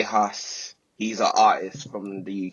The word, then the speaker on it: Hus: J and then Hus, like Hush.